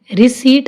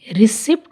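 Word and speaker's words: receipt: Cupboard, इसको कू प नहीं बोलेंगे, पी साइलेंट है। कू। रेस्पेरी, निमोनिया, स्यूडो, साइकोथेरेपी, साइकिक, और इसको हम रिसीट बोलेंगे, रिसिप्ट नहीं।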